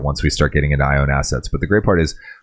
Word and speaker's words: IONE Assets: And just to clarify, it's a venture of ours under Machine&Emotion that's called I Own Assets. It's just like it sounds, like I own assets, but it's spelled IONE assets.